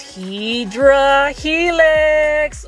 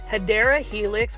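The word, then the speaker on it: Hedera helix: guys look at this hedra helix or the correct way to say it is hadera Helix which is in English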